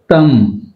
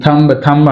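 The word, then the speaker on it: thumb: థమ్, మనం థంబ్ అంటాం, అది దట్ ఈస్ రాంగ్, థమ్ అంతే. బి is silent.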